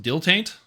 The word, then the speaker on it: dilettante: you get the improved dilettante so you get an extra so you get plus two date and damaged universally oh it's pronounced deal taint okay good to know